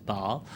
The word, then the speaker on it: Basle: pronounce it. I say Basle, All right, but then.